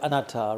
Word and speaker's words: anatta: You know the word anatta, right? Non-self. So the Thais, they pronounce it slightly different. So when I translated it to Luang Por Tui, he went, huh? So I said, anatta. Anatta.